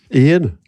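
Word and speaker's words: Iain: hell IR voice trying to spell that Ian Ian with an i a i n Ian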